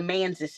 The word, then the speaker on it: Manses: The Manses is how they say it.